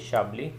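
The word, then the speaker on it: Chablis: सो the first area हम देख लेते हैं, that is द शाबली, pronunciation is शाबली, which is ऑन द टॉप.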